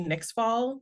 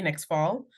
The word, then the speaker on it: Nyxfall: This one is under Nixfall. Nixfall is spelled N as in Nancy, Y X F is in Frank, A L is in Lima, L is in Lima. next fall.